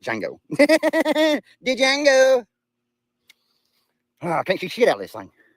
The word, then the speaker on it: Django: And it's jango. The D is silent. It's jango.